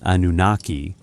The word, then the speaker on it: Anunnaki: The pronunciation Anunnaki is technically a genitive form, like saying of the Anunna, so using it as a proper noun isn't quite grammatically correct.